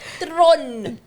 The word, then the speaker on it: Theron: Charlize Theron. Yes, you are right. Tron. That's how you say it.